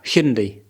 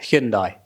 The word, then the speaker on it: Hyundai: to say now the how to say it Hindi is it Hindi isn't it hindai hindai when I was guy on the driveway